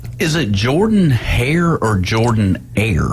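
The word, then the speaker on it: Jordan-Hare: Is it Jordan Hare or Jordan Air? It's Jordan Air. Jordan. Jordan. It's Jordan. Jordan. It's spelled Jordan.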